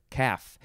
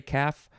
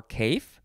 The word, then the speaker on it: calf: all right next is caf c-a-l-f you don't pronounce the l uh it does look like people say caf or cough or cafe who says cafe for